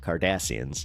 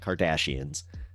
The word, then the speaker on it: Cardassians: Yes, it's not with a K. I said it right, though. Cardassians. It's not Kardashians.